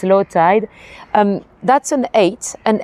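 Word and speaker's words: eyot: Um that's an eight. An eight is a little island. It spells aot but it's it's pronounced eight.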